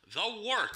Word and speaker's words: Wort: Hey, moron, it's pronounced the Wort. What the hell is a wort? It's pronounced the Wort. What is it? The wort? Yeah, okay, I'll do that again. This is the Wort on Govs Radio. It is the Wort. Not warts, not forts, not short.